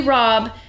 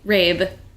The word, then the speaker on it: Rabe: we can't go back her name is broccoli rabe and then some rando